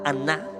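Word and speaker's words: ענה: mano con humillar Okay esta palabra aná en el hebreo es a n a con acento en la segunda a es idéntica a otra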